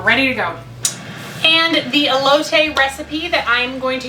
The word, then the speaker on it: elote: I actually texted my sister, whose husband is a Mexican American, and asked her how to say elote, just in case I said it wrong.